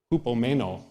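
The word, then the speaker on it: ὑπομένω: Makrothumia, and hupomeno.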